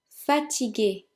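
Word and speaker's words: fatigué: number six fatigue a fat GG which means tired and in the feminine we add the e but it is silent number seven Shanti Shanti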